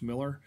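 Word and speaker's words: Mueller: name is carrie miller it's spelled m-u-e-l-l-e-r but pronounced miller so carrie miller needs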